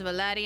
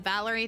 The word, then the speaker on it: Valeri: Valeri, they're keeping it as Valeri instead of Valerie.